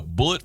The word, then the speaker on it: Bulleit: So it's they say it's a family tradition, and it's spelled different. Bulleit, like the name. It only has a not like has the an actual I in it.